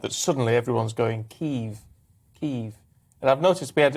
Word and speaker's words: Kyiv: The Russian is Kiev. It's Kyiv. Kyiv.